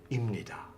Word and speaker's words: 입니다: So the rule is that the p sound, the p sound, assimilates with the next consonant, the first consonant of the next syllable block, and becomes 입니다. 입니다. Easier to say, facilitates the pronunciation.